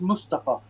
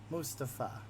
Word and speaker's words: Mustafa: So it's pronounced Mustafa. Mustafa. Yeah, there's not a strong emphasis on the U. It's not moose like chocolate mousse or the wild animals of Canada. It's just Mustafa.